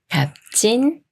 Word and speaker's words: 값진: 말이 와서 갑진이 되는데요 비웃 받침이 초성 지을 만나면 초성 지우이 쌍지 수리인 즈로 바뀌면서 갑진이라고 읽어요 갑진 갑진 다음은 비읍 받침이